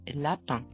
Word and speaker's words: lapins: In the plural, most words take an S at the end, but the S is not pronounced. For example, un lapin, des lapins.